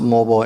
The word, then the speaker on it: mobile: In America we pronounce it mobile, in UK mobile.